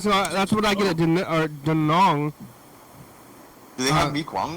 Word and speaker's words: Da Nang: I was in Da Nang, Oh, Da Nang?